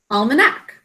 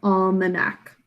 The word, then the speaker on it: almanac: A, K, almanac. This is an unstressed syllable. That's why it says an sound, almanac.